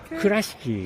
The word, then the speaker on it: Kurashiki: And we're going to, I don't know how to say it properly, but is it Kurashiki? Kurashiki.